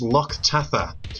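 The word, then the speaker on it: Loch Tatha: so welcome to lotte which in the scottish gaelic is pronounced lok tatha it is a fresh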